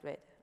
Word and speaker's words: read: decía a mis alumnos, el verbo read en inglés se dice read, read, read. Nos podría decir Richard. Y entonces él llegó a la conclusión, como las tres formas se escriben igual, deberán decirse igual.